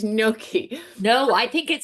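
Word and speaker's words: gnocchi: But you know, my Pennsylvania roots come out and I'm always saying noki because I know that's the Pennsylvania version. And I give it the knocky. It's You're right. It's Noki.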